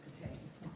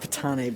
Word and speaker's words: Patane: Patane, is that pronounced correctly? In Sicily, yes. In the U.S., it's just Patane. Oh, I like Patane better.